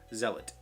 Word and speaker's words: zealot: And it's a completely differently pronounced word.